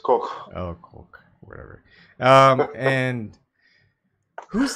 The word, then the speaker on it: Koch: Like how it's supposed to be pronounced Koch.